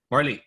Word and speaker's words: Marley: Up next, can I ask actually, how do you pronounce the name? Marley, or is it Marley? Apologies. Marley, cool. Would you kind of Marley, introduce yourself? like Bob Marley.